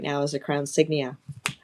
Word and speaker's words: Crown Signia: card that I have right now is a crown signia I said it right Toyota Toyota has a crown signia um which I think a lot of us have said we keep calling it Insignia because that's just the easier word and and